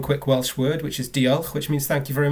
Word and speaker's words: Diolch: Well, diolch, did I butcher it correctly?